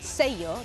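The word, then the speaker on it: sello: it's worth remembering that in Spain words like Sayo that have two L's are pronounced just like a y in English so supposing we want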